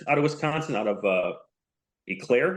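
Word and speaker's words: Eau Claire: of Wisconsin, out of Eclair. Is that how you pronounce that? Yeah, Eclair. Eclair? Okay. Yeah. Not Eclair. That's the dessert.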